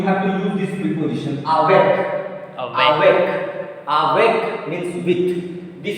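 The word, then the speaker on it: avec: So this word is made of how many syllables? How many syllables? Two syllables. So after which letter? After a. After? A. Yes, because these place between two vowels. Yeah. So that's why. See, a is followed by a consonant with the same syllable. So a will be pronounced a. Awek.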